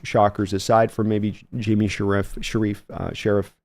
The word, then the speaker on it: Sheriff: No major huge shockers aside from maybe Jimmy Sheriff. I always want to say Sharif because I heard that pronounced once that way, and now it's always going to be pronounced that way.